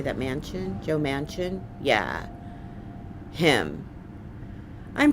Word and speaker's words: Manchin: M-A-N-C-H-I-N. How do you say that? Manchin?